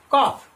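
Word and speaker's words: calf: Next word है सी ए एल एफ, कॉफ, यहां पर देखेंगे सी एल एफ कॉफ, तो यहां पर जो एल है वो कैसा है, साइलेंट है, इसका प्रोनाउंसेशन होगा कॉफ, और कॉफ का मतलब होता है बछड़ा, काय का बछड़ा, कॉफ।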